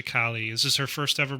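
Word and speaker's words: Calle: second building Sasha Cali I don't know how to pronounce it I heard it pronounced I was like yes Sasha Kali is this her first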